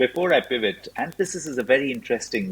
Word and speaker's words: Anthesis: But Anthesis is also slightly difficult to say, especially for German with so many THs. And we got loads of different versions, so we're trying to get the name and the pronunciation in there. So it's Anthesis and not other Pieces, yeah.